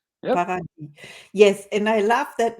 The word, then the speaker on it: Paradis: Paradis, Yep. Paradis." Yes, and I love that name so much, so I can pronounce it the whole day long.